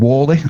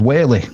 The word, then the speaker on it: Worsley: So from a tiny little village called Worsley, and Helen pronounced it as Whaley.